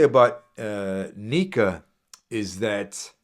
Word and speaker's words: Nyika: What I will say about Nika is that his last name is kind of hard to pronounce if you take away the silent Y.